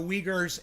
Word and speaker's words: Uyghurs: leaguers the uyghurs okay so that is how you pronounce that the uyghurs and they are where's